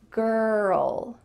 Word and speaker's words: girl: end girl girl girl notice that my mouth isn't really moving here it's all inside my mouth and in my throat girl girl and with the L my tongue is coming beside my teeth girl it's right there girl girl alright and the